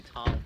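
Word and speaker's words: Thom: It's actually Tom. H with a silent, man. H is silent in this guy's name.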